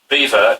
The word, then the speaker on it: Belvoir: don't live in leicestershire beaver is spelt belvoir b-e-l-v-o-i-r and it originates